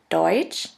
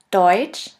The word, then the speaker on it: Deutsch: The next letter combination is TSCH, TSCH, which is simply pronounced like a CH in English. Here we have the example of the word Deutsch, Deutsch, which means German, and of the word Tschüss, Tschüss, which means bye.